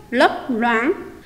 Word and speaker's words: lấp loáng: Khi đọc từ này, các em lưu ý phát âm đúng âm đầu l.